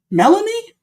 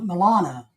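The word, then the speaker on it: Melania: am I oh Milana Milana I'm saying it wrong it's it's Milana sorry guys you're right it's Milana not yeah it's Milana my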